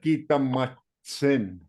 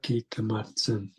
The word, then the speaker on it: Kitamatsun: The real way how to say this is Gita Gitamatsun. Kita Kitamatsun. Yeah, that's the real way.